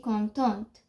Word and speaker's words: contente: Like if there is an e at the end, you pronounce the t.